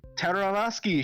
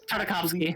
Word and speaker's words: Tartakovsky: this is another Tartarovsky show. It's Tartakovsky. very. You know, I'm not gonna pronounce Tiddly it right.